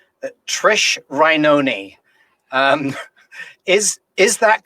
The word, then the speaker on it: Rainone: writer trish now let's see if i can pronounce her name correctly that trish rynony um is is that correct rish that's perfect so it's not reinone actually that's more perfect oh there you go